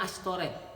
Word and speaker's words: Asytoret: yaitu Baal dan asytoret tulisannya asytoret tapi bacanya astoret dalam bahasa Ibrani SY